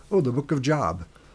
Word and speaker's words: Job: We go go on to the book of Job which is confusing to some people because it's because it's spelled like Job, right?